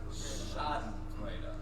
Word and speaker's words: Schadenfreude: It only took 4 shows to get the pronunciation right. Schadenfreude.